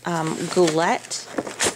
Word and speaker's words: Goulet: And so I bought it from a company called Goulet. I think that's how you pronounce it.